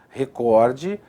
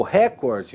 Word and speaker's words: recorde: Essas palavras são paroxítonas, tá vendo a sílaba tônica ali em azulzinho, ó? Porém são normalmente transformadas em proparoxítonas, o que significa ou que configura um erro de prosódia, um erro de pronúncia. Como assim? Aqui, ó. Então é muito comum você ouvir a pessoa falar, né? Filântropo, ou recorde, ou rúbrica, líbido e púdico. Errado.